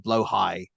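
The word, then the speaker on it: Blåhaj: Caribbean themed one where they had the IKEA blow high. Am I pronouncing that correctly, Joker?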